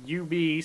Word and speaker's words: Ub: was up or UB the way that's pronounced well it's UB so I go with UB oh my God he was the inventor of dubstep wasn't he you're right it is UB cuz he also spelled